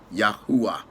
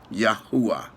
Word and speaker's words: Yahuwah: And if we were to go by the correct pronunciation of the name of God in the Semitic, it would be Yud He Wah He. In English, it would be pronounced Yahuwah. Yahuwah.